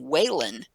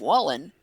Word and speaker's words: Wallen: I get people that pronounce my last name waylynn instead of Wallen because there's a Weiland